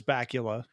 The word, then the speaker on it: Bakula: Bakula's name and so he called him Bakula forever and I I think that's a much cooler way of pronouncing it especially Dan having a a British accent but it's bacula Scott Pula give us